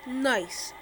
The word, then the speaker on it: Nice: first I landed a nice which is a French Riviera beautiful it's pronounced nice into Russia do